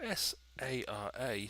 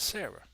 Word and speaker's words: Sara: with Sara, which is spelled S-A-R-A, so I pronounce it Sara, because that's how the members of my royal family pronounce it when some of them are named that. However, some people may pronounce it Sarah. However, for me to pronounce it Sarah, it would need the letter H on the end of the name.